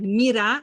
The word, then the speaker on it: Mira: I love to bring sun in your life, but I pronounce my name like Mira, like miracle.